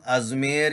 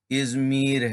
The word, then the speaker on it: ازمیر: لیے عرض ہے کہ یہ نام ازمیر یا ازمیر نہیں ہے، ازمیر ہے۔ اس کی اسپیلنگ دیکھ لیتے،